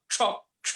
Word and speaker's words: क्ष: अच्छा वो क्ष मतलब क और श के संयोग वाला। हाँ। अच्छा वो क्ष था, छ नहीं ना, छतरी का छ नहीं। नहीं। ओके उसमें क और श 2 मिले हुए, क्ष ऐसा उच्चारण है।